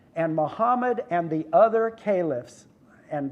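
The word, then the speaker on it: caliph: Muhammad and the other Calif and that's how you say it by the way it's not kelis we English people call it collates ok so calif started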